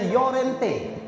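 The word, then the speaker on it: Llorente: jaj Miharja Lorente Dou l bacanya yorente apalagi Perancis Aduh pak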